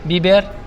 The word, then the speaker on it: biber: Biber.